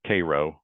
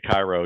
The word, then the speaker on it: Cairo: they're they're practicing they go down to to Koo which I always say Cairo even though I'm from Illinois and you know